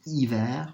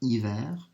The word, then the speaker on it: hiver: So remember that H at the beginning is always going to be silent. So hiver for winter, hiver.